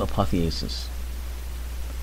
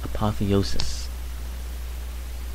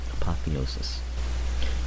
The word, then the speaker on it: apotheosis: now so on to apotheosis I'm sorry I keep saying that wrong it's actually pronounced apotheosis apotheosis it's a Greek word and uh technically it